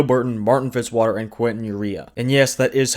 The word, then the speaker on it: Eriya: Those three gentlemen are Tonio Burton, Martin Fitzwater, and Quinton Eriya. And yes, that is how you pronounce his last name, I've heard him say it.